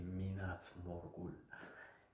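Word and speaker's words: Minas Morgul: doule balad minas morgou est-ce qu'il faut bien le prononcer he c'est minas morgou baradour d gou dur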